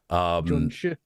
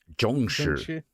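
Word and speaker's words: Jiangshi: I can only pronounce it in Mandarin. Zhongshi. Zhongshi. Mm-hmm. No, Zhongshi.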